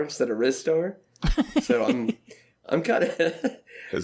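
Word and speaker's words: Ristar: Well, I'm just now finding out I've always mispronounced half of those titles. I always said Rystar instead of Rizstar.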